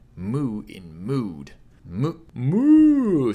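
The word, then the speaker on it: も: from a bit higher MO is pronounced like Mo in more you want to catch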